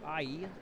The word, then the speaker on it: Ei: We've got the Merguez, we've got the Sloppy Joe, and we've got the German egg, pronounced I.